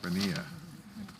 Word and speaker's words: Bonilla: Bonilla. Is it Bonilla? Yeah. Anyways, has the Puerto Rican